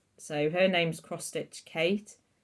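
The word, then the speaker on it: Cait: floss tube um so her name's cross stitch Kate it's spelled c-a-i-t so I'll link her in the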